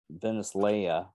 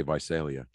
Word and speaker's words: Visalia: uh rapist was uh venice leia is that how you pronounce that oh wait by celia yeah i was gonna say visalia uh by selling crime